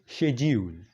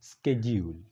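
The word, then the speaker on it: schedule: نو آیا د دې صحیح تلفظ، صحیح پرونسیشن څه دی؟ آیا دا شیډیول دی، که دا شیډیول دی، او که دا سکیډیول دی؟ نو دا ځان سره په یاد ساته چې دا درې واړه د دې صحیح تلفظ دي. مطلب که څوک وایي شیډیول صحیح دی، که څوک وایي سکیډیول هم صحیح دی، او که څوک وایي شیډیول هم صحیح دی.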